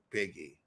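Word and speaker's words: Bigi: blanket to Biggie and it's b i g i biggy I had to look up how to pronounce it okay I mean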